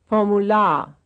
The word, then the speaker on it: Formular: Here are two with the stress on the last syllable. Formular, Apparat, Formular, Apparat, 40,